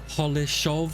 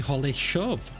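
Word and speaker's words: Holešov: of holesov I think it might be holesov because it's got an S with a upside down triangle on it and so did koshish that I was looking up to find out how to pronounce and he was saying that that s is a sh as well some more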